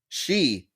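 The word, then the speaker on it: 四: you count in Japan the number four for example pronounced she can also mean death this is why you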